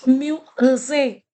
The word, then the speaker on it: musée: I have already taught you here how whenever this is there, the l'accent इसको accent कहते हैं accent, then it has the sound a. That's why I'm pronouncing it musée.